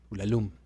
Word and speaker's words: Ulalume: poema que lee es ulalume Okay ulalume ul lum también se puede pronunciar que cuenta básicamente una